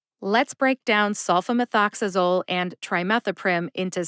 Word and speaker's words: trimethoprim: move on to trimethoprim trimethoprim has four syllables try like I'm trying to pronounce this drug name like methanol o like the letter o in the alphabet however when I say